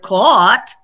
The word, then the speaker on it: caught: sounds like an f but in the word caught the gh is totally silent so again these are